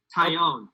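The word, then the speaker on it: Taillon: upset at it jameson taylon talon i think it was talon right brennan taiyon okay all right at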